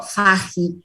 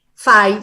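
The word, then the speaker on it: Fahy: la avenida Monsegur y padre Fai, no Faji, Fai se pronuncia porque escuché como la leyeron en cuando leían las imputaciones.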